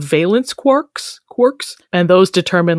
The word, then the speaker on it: quarks: it should be pronounced quarks rhyming with parks, but it is in fact pronounced quarks, rhyming with pork.